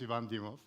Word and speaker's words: Ivan Dimov: this guy has to work on its pronunciation because that's not my name so my name is Yvonne DeMuth and I'm the the